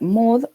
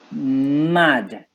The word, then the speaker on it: mud: Mud. Mud. El barro. It is not mud, it is mud.